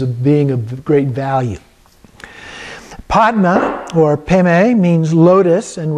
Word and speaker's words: Padma: mantra is vajra guru padma city home it is pronounced guru pema city by tibetan so slight difference there the the vadra is bendra and the padma is pemei and so some little